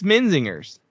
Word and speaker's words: Menzingers: It's a soft G, not a hard G. Like we jers we want to say jers which I also think our friends also say that too so we just all said it wrong to each other all the time. It's like zingers like those uh you know con confectionary pastry things that you could get at the gas station.